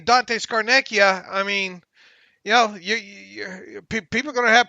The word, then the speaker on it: Scarnecchia: How do you pronounce his last name? Scarnecchia.